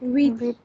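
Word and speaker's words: huit: So you're not pronouncing the H as usual, but also you are pronouncing the T sound here, which is generally not pronounced, right? So the T is kept silent.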